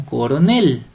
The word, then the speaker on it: coronel: palabra grave sin tilde vamos con coronel coronel coronel donde llevará la mayor fuerza de voz en la última sílaba correcto vamos a separar